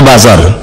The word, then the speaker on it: buzzer: buser-busernya tolong dihentikan buzer tulisannya buzzer bacanya bazar luar biasa menyerah seolah-olah